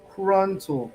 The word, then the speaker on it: Kruntel: It's Kruntel, pronounced with an untel. Kruntel.